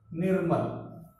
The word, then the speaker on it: निर्मल: ये जो र हमारा लगा है यह पहले ही इसका उच्चारण होता है। तो नी के बाद में इस र का उच्चारण होगा, फिर म का होगा, फिर द का।